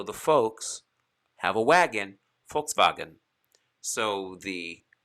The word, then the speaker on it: Volkswagen: you can even have like the german f sound as in volkswagen a volkswagen is really a volkswagen or a folks's wagon